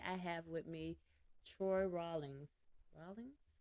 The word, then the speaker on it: Rawlings: Today I have with me Troy Rawlings. Rawlings? You said it right, Rawlings, like Yeah, raw that's what links.